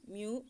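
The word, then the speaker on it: μ: மேலும் கிரேக்க எழுத்து மியூ, இதன் உச்சரிப்பு மியூ மூலம் குறிப்பிடப்படுகிறது.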